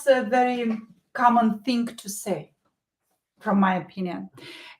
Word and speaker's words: с: In the context, we will pronounce it as sa.